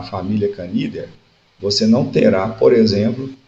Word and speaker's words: Canidae: Na ordem carnívora, você terá várias famílias, dentre elas a família Canidae, ou Canidia, como queiram falar. É percebido uma condição aqui